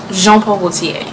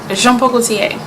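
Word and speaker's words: Jean Paul Gaultier: CA that's easy right Jean Paul Gautier shampoo jean-paul Gaultier jean-paul Gaultier and then there's alone huh you don't want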